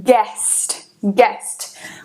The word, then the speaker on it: guest: então aqui por exemplo guest guest você não vai pronunciar ele gasto muitas pessoas falarem